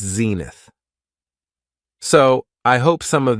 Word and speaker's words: zenith: The next noun is zenith. It has 2 syllables, and the stress is on the first syllable, zenith.